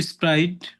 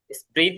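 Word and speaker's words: spread: ইউ ইউ স্প্রাইট স্প্রাইট কি এটা? স্প্রিড না উচ্চারণটা? জি স্প্রিড ইউ স্প্রিড তুমি ছড়িয়ে পড়ো উই লিভ ছড়িয়ে পড়ো, তুমি ছড়াও বলেন, তুমি ছড়াও।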